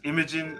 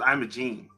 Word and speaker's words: Imogen: command wait a minute to say her name was Imogen I thought it was Imogene Homeworld three all right